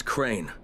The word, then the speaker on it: Crane: no my name is crane crane crane rhymes with train and brain and sign and Grain and rain and plane and the other kind of plane and and can I